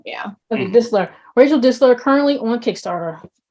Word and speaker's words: Distler: Distler, yeah. Think of Distler, like okay. whistle. T is silent, yeah. Okay, Distler.